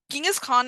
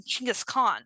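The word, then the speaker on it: Chinggis Khan: Gingis Khan is actually a a European form of his name of Well, it's not even his name.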